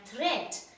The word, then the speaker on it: threat: given by the poet watch out for meat and great and threat they rhyme with sweet straight and dead so children over here